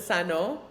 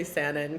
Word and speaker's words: Sanon: My dad pronounces it Sanon, but I just say Sandin cuz it's easier for everyone.